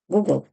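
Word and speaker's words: googol: 10 в сому степені Google воно має наголос на О А Google це трошечки відозмінена назва просто для пошукової системи вже трошки змінили і тому воно так звучить Google як правило Ми звикли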